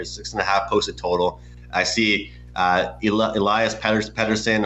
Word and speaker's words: Elias Pettersson: And when I see a 6.5 line or 6.5 posted total, I see Elias Pettersson, or Elias Pettersson as they've been calling him. That's how you pronounce it in Europe.